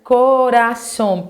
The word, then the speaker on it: corazón: palavra bem moleza né corazón que você sabe já que a sílaba forte tá aqui ontem bacaninha eu hein